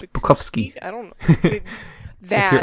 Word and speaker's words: Bukowski: It's Bukowski. I don't know. That. If you're Polish, it's Bukowski. I'm if you're anyone very else, it's not Bukowski. Polish.